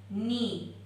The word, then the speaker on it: knee: को हम कहते हैं नी। क्या कहते हैं? नी। इसकी स्पेलिंग होती है KNEE, नी। ओके, ये हो गया हमारा नीज यानी घुटने।